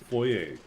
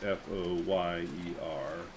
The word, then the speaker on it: foyer: seen it maybe bank it's called the foyer or the foyer depending on where you're from the French would pronounce f o y e r foyer and in Canada that's actually how we say it most of the time